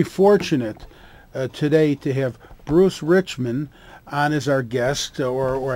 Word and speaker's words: Richman: today to have bruce richman on as our guest or i believe it's pronounced rich man and he's a cpa